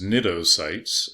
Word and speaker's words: cnidocytes: The stinging cells are known as cnidocytes, and the phylum name is Cnidaria, and they both have a silent C.